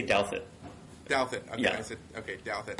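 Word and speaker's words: Douthat: you wrote with Roscoe Todd and did I pronounce that right by the way I always say Delta Delta yeah that's it okay Delta okay and I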